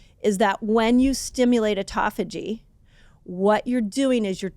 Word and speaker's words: autophagy: Yeah, I kind of landed on autophagy.